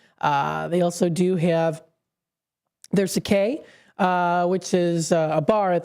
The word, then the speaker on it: sake: The correct way to say it is Sake.